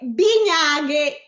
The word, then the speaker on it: bignaghe: È bignaghe. No. Bignaghe. Bignaghe. E adesso lei mi dice dove metto gli accenti? 3 bignaghe. Allora, 3 L'accento sulla E finale di 3. Sì. Bignaghe. Mm. Sulla A di Bignaghe.